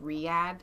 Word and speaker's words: Riyadh: I get a message from Horatio this morning, and he's like, and by the way, it's pronounced Riyadh.